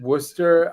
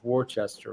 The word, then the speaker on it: Worcester: Um, we we we call it Worcester. I don't know how that happened, but that's how we pronounce it. But I think anybody else without knowing that would definitely looks like it says Warchester, right?